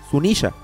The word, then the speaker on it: Zunesha: El nombre Sunisha está escrito de la siguiente forma, en katakana en la parte superior tenemos la pronunciación que ya conocemos, Sunisha, pero en la parte inferior están unos kanjis,